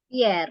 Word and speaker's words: Pierre: Ini bacanya Pierre ya, Miss? Pierre, ya nama Perancis nih.